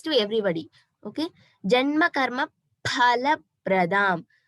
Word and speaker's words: फलप्रदाम्: So normal pa when we say here Prati, Pradam. So here Paraha. That pa we have to stress a little bit. That is the pronunciation for pa in Sanskrit. So it is Phala Pradam.